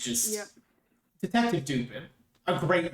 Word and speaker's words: Dupin: Detective Dupin, a great name, 10 out of 10 name. That way on purpose? I believe so. It's not the way it's pronounced. It's not It's pronounced Dupin. It's French. really.